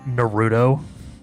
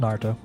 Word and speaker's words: Naruto: when people call him Naruto. Pronunciation. It's just Naruto. It's Naruto. But so many people. Like you don't need to be emphasizing the Rue like that.